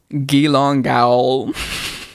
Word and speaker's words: Geelong Gaol: I need to note this gong jail is spelled g e e l o n g g a o l hold on I'm sorry can you say that one more time gong say that spell that out one more time for Me ge e e l o n g g a o l gilong gal also when I was